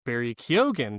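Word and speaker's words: Barry Keoghan: his name wrong, but he pronounces it Barry Kyogan, but he's he's from Saltburn.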